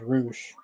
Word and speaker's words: Rush: Yeah, I thought it was Rush too, but he pronounces it as Roosh instead of Rush.